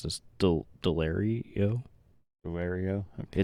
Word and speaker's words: Delario: MH is I don't even know how to pronounce this delaro delario okay it's d e l a r i